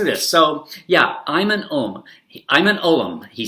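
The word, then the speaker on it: Ulm: Arkansas, where I'm from, this is actually pronounced Stuttgart for Stuttgart and Ullum. So Ullum. So whenever I read this quote, I read it, "I'm an Ullum," because that's how I pronounce U-L-M, Ullum.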